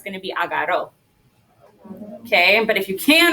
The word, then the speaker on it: agarró: Todos repiten, agarró. Now, if you can roll your R's here, you should. Why? Right, because it's a double R, and double R's want us to roll it.